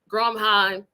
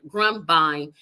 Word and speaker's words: Grumbine: at two with Stephen Grine and I'm not pretty sure I'm not pronouncing his name right grumbine that's how you pronounce his name and he will be